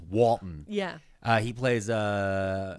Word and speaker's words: Walton: yeah he's so good I always get his name wrong it's like Walton Walton gogin cuz I was want to call him Walter and that's not his name his name is Walton yeah uh he plays